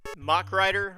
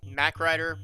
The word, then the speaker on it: Mach Rider: And oh boy, it's Mach Rider or Mac Rider. I guess you could pronounce it either way.